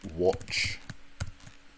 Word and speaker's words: watch: One thing I picked up on the pronunciation of the word watch. Yeah, make sure we get the W sound at the start.